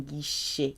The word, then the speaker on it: guichet: Ticket window is un guichet. Guy, remember G-U, followed by I is a hard G. Followed by I or E, G-U is hard.